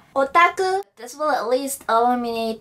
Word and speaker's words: otaku: another term which is English pronunciation oh taku Japanese pronouncing Asian otaku this will at least